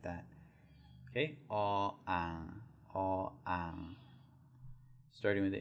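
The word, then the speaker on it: อ อ่าง: It's all ang. All ang. There's a tonal difference.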